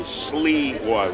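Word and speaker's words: Sliwa: Sleewah would be pronounced S-L-E-E-W-A-H.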